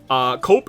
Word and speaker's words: Cope: Cope is pronounced cop.